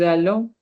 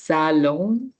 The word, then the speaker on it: allons: But because the next word is followed by a vowel, now the pronunciation is allons apprendre, right?